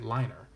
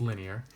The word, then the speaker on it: linear: Because if you wanted to pronounce this word incorrectly, you could say it liner. It's not pronounced that way. It's linear.